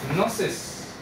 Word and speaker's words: gnosis: But what's interesting here is notice, gnosis. When I was a kid, I was just curious, how come the G is silent?